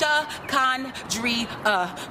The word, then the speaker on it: Shakandria: It's pronounced Shakandria, no silent letters, no accents, preferably pronounced with the drawl of a southern accent.